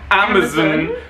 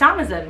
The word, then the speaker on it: Amazon: oh okay so i us brits we say amazon and i didn't realize that was weird until i said it on my instagram stories if you're not following us on instagram and i got so many replies from americans being like amazon where's the vowel it's amazon and i was like no it's not it's amazon it's amazon so i think we've